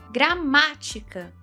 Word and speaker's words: gramática: Gramática tônica na antepenúltima, ou seja, proparoxítona.